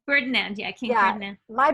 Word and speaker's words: Ferdinand: So King Fernand Is that how you say his name? Ferdinand.